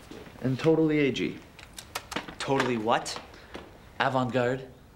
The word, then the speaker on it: avant-garde: totally AG totally what avant-garde it's pronounced Avant guard a all right just